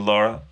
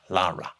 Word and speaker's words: Lara: but I said Lara you have to pronounce the a yeah you do Lara so Lara let's talk